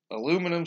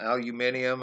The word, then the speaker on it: aluminium: Solution and Production, aluminum, aluminium, it depends on, I've seen it spelled both ways now, so that's a little weird. When my cousin was in physics, they had to pronounce it aluminium, so, and that's the